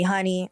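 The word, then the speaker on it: Honeyx: is you could call me honey x is silent it's just there because i love the weeknd um um before cat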